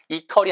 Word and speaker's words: equal: 근데 이 발음을 빨리 하면 원어민 대부분 equal처럼 발음해요. 이게 절대로 equal처럼 입술이 동그랗게 안 모아지면 틀린 발음이에요. Q 다음에 나오는 모음들을 U, 특히 이런 단어들이 많은데 영어 사전에 찾아보면 W 발음이 100% 있어요. 그래서 equal이 아니라 equal, equal, equal 이렇게 발음하셔야 돼요.